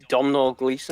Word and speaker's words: Domhnall Gleeson: Now, how did you pronounce his name before? Domhnall Gleeson.